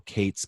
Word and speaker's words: K8s: It's pronounced Kubernetes, or you can see it with a K with the number 8 and then an S. So Kates, K8S, K8s, depending on how you want to pronounce it.